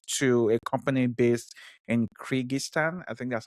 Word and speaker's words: Kyrgyzstan: he sold it to a company based in Kyrgyzstan. I think that's how you say it. Yeah. Yep. Kyrgyzstan, which is very close to Russia, and from